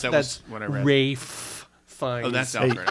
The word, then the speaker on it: Ralph: think it's pronounced Rafe Fiennes. Rafe Fiennes. Yeah, Come well, on, get it right. Okay, well, it's spelled Ralph. Casual. So I'm gonna say Ralph, and he can suck it.